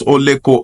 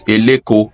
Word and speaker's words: Oleko: Due to different migrations into Eko from the west, they mispronounced Oleko as Eleko of Eko, which is still fine.